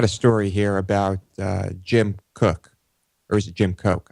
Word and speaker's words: Koch: story here about Jim Cook or is it Jim Cook I believe it's pronounced Jim Cook although it's spelled the same way as the Koch brothers um pretty sure he